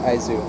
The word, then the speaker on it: IS: between the Ayane so but it's pronounced Isis by my ex-husband cats